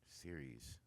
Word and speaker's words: Ceres: How do you pronounce out it? there. Ceres? Ceres.